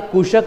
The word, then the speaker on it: कुशक: इस कुशक महल का प्रोनाउंसिएशन अपभ्रंश होकर के कोशक प्रोनाउंस किया जाता है, तो ध्यान रखिएगा कुशक या कोशक दो अलग नहीं, एक ही महल है।